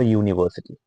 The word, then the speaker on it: university: And U begins with Y. So that is why it has a consonant sound. It has the sound of YU. Okay. That is why a university.